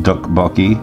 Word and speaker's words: tteokbokki: pronunciation of that one duck bulky now it's not d and it's not hard T it's like a soft T so it's just two